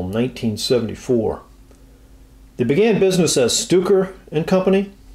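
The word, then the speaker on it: Stöcker: They began business as Stuker and Company. That's spelled S-T-O-C-K-E-R like Stocker, but there is an umlaut over the O, so that's my best stab at that.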